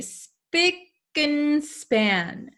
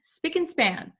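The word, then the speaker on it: spick and span: have and here usually when we pronounce this word we say speak and span speak and span speak and span so we can say it very quickly and span okay but and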